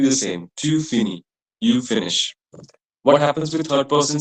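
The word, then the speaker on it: finit: It will be fini.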